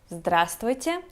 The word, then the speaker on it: Здравствуйте: at first place is Здравствуйте. And yes, you heard it right, we skip the letter V in the middle of the word because, 4 consonants in a row, that's too difficult even for Russians.